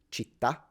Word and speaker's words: città: But it's interesting how we have these words in Italian that are stressed at the end, like the word for city, città, città. It's not città, it's città.